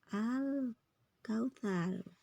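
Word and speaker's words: الكوثر: jelas makanya bacanya jelas al-nya dibaca jelas karena tidak melebur Al Kautsar al-nya kebaca berarti dia Idhar Qariah atau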